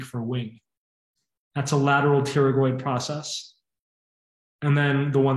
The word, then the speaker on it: pterygoid: the lateral pterygoid process the word pterygoid you don't pronounce the p theory means wing so